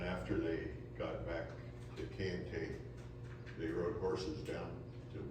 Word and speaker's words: Kayenta: a little different because this is how they pronounced it back then, Kayenta. You'll hear it Kayenta in various variations, but let's use the original pronunciation, Kayenta.